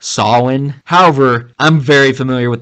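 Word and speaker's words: Samhain: it's a Celtic word Sam Hayne so technically mispronounced they believe that proper pronunciation is along the lines of Sinn however I'm very familiar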